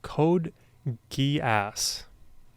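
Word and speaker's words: Code Geass: It's from an anime called Code Gas. That is how you pronounce that. Uh, Rose of the Recapture. This is a sequel series to Code Guas Louch of the Rebellion.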